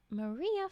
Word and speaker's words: Mirrieh: Ouyan the lizard was out getting yams on a Mayrah flat. Mayrah spelled Mirrieh. I said guess it how to say it.